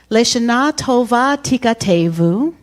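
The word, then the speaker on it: L'shana tova tikatevu: So the lyrics, the song goes, Leshana Tova Tikatevu. Repeat after. Leshana Tova Tikatevu. And we say again, Leshana Tova Tikatevu.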